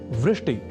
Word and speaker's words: वृष्टि: हैं एक शब्द है वृष्टि या वृष्टि पर कभी-कभी हम में से कुछ व इस अक्षर का उच्चारण ब के रूप में कर दिया करते हैं और वे बोल जाते हैं वृष्टि या ऐसे ही एक